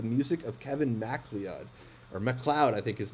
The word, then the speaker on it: MacLeod: I caught the documentary Royalty Free, the music of Kevin MacLeod, or MacLeod, I think his name is actually pronounced.